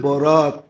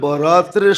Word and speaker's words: বরাত: ছোটাছুটি হয় বীরবাটটা হয় তো শবে বরাতরে শবে বারাত বানায়া নিছে একটু ডিস্টেন্স উচ্চারণের ডিসটেন্স আর কি নাইলে লিখতে একরকমই লেখে লিখতে তে একরকমই আরবিতে একরকল উর্দুতে আরবিতে একরকমই লেখে কিন্তু উচ্চারণে ডিফারেন্স একটা হলো বরাত আরেকটা হলো বারাত একটা হলো মুক্তি একটা